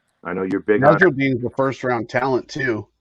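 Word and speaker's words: Nasirildeen: Nasruddin. Okay, I can buy. All right, Nasruddin. I love those later picks. I think those are guys to definitely keep an eye on. I know you're big on. Nasruddin's the first round talent too.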